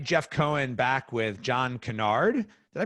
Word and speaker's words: Kennard: Hey everybody, Jeff Cohen back with John Kennard. Did I pronounce that right?